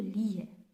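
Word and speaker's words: لَهُ: जिस तरह प्रोनाउन लहू, लिहू नहीं हो सकता, लहू।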